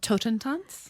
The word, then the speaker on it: Totentanz: And you should tell me what it's called, because I'm afraid to try to pronounce it myself. That's okay. It's called Totentanz.